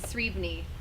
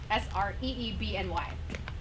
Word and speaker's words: Sreebny: Some of us, like my last name is Sreebny, Sreebny. Nobody knows how to pronounce that name.